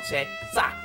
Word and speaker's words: 새싹: You gotta be careful on that pronunciation there. 새 is new, right? They're sprouts, they're little babies. And then you've got 싹. Okay, it's that little sprout is what it's called. 새싹. Be careful that pronunciation. And they say it's good for you.